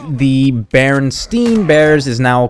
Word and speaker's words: Berenstain: I would say Berenstain Bears. I'd pronounce it that way because my last name actually has an E-I and it's pronounced with an I sound.